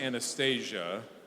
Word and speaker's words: Anastasia: miss Anastasia and it is pronounced Anastasia believes in the enchanting power of children's books